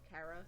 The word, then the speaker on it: Chara: But I'll be using the pronunciation Kara since it resembles the word character.